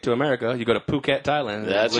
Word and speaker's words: Phuket: yeah now we're in Phuket which is uh like beach resort area it's spelled like it but it's it's Phuket Phu ket it's paradise it's easily